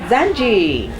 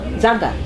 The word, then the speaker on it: Zaanga: say and today we have a new member zanji zanga zanga yes don't worry about it zi oopsie it's